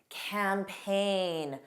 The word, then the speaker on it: campaign: Rain, reign, campaign. Notice those sound similar. Foreign, completely different pronunciation. Foreign, benign, benign. The rule is GN spelling has a silent G pronunciation.